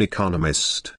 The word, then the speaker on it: economist: Smith is an economist. Notice the stress on economist. This content word has new information, so it is emphasized. There are 4 syllables in economist, with the stress on the 2nd syllable.